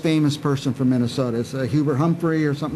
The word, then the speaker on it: Hubert Humphrey: Bunyan okay but was Hubert Humphrey from Minnesota Hubert Humphrey yeah there was a joke are someone made a slip up once pronouncing his name who Burt Humphrey er it was really a hard name for